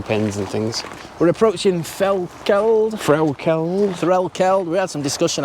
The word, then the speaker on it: Threlkeld: I was going to say something like Threlkeld. I think that's how the locals, some dialects do pronounce it like that, so. But apparently it's Threlkeld, not called Keld.